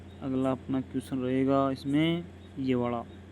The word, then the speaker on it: ऋ: व्यंजन ऋ होता है अपन कैसे बोलते ऋण को ऋण री री ऋण बोलते हैं दोस्तो ठीक है दोस्तों